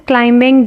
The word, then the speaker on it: climbing: So now, Sana is climbing the mountain. Sana is climbing the mountain. So the silent letter is in the word climbing, and the word that is silent is B.